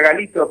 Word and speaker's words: Gallito: Gallito, se pronuncia Galito, pero bueno, se escribe Gallito, en castellano se pronuncia